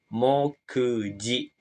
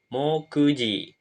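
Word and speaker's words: 目次: selanjutnya ini kanjii selanjutnya dia akan dibaca mokji cara baca ongyomi yang dipakai yang artinya daftar isi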